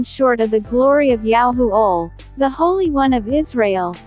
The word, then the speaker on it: Yahuwah: yahuwah john 3 3 holy scriptures pronounced yahuwah accented on the syllable yao 5 for yahoo all